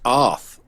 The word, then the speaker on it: Arð: ahead as if you as if you were going to say the word Arthur um but the th is supposed to be a little bit more a little harder so the th as